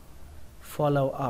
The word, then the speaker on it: follow: Follow up, follow up. Nó có nghĩa là theo sau, bám riết. Follow up, follow up. Từ follow các bạn nhớ là trọng âm của nó là âm đầu tiên nhé, for, follow, follow up, follow up.